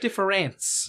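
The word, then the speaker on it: différance: A attached to it difference no it's actually pronounced exactly the same it's a homophone well no one would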